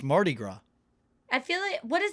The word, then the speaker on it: Mardi Gras: Mardi Gras before we started taping uh cat pronounced it like Marquis no you didn't it was like Mary Marty Mardi Gras you pronounce it so badly what is it like it's Marty it's Mardi Gras I feel it what does that mean what